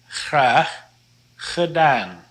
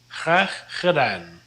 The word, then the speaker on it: graag gedaan: Here's a good way to practice your G's. This is pronounced graag gedaan. Graag gedaan.